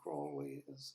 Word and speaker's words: Crowley: you know Aleister Crowley's Crowley is is Holy crawlies and holy moly as his name is pronounced but I like Crowley Heights I've always said Crowley you know the Led